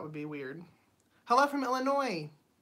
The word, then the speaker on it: Illinois: be weird hello from Illinois you don't pronounce the S right Illinois's that would